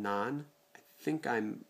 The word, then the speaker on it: naan: bread that Trader Joe's carries and it's called naan I think I'm pronouncing that appropriately n-a-a-n is the spelling of